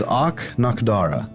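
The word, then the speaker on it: Ahk-Nahkdara: about with uh sarin that continent name is och nakhdara i'll spell it out a-h-k i was way off all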